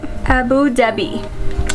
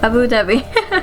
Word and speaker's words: Abu Dhabi: Abu Dhabi. That's what. Abu Dhabi.